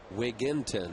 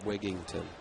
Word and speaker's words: Wigginton: Here's Ty Wigginton. Wigginton, right? Not Wigington. Very highly, widely mispronounced name.